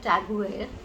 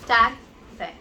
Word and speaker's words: TAG Heuer: It's not Tag Heuer, it is Tag Heuer.